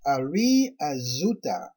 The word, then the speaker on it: Yari Azuta: Tribe 12, Yari Azuta, pronounced Ari Azuta.